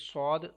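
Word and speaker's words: ص: Next letter is sod. Sod is superior letter, and we will have to pronounce this letter with whistle sound as well as with thicker voice.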